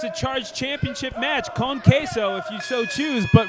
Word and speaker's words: Queso: His name is Queso. Queso? Queso cheese dip. All right, hey, he walked into him charge. I mean, it's a charged championship match. Con Queso, if you so choose.